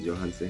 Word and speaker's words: Yohance: all right cool of course my name is johan se um i was saying it wrong your